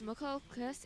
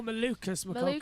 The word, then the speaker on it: Malukas: Right, All right, Will, this is after Connor Daly, 4th is O'Ward, 5th McLaughlin, 6th is McCulcus. Is that how you say his name? Yeah. Oh, Malukas.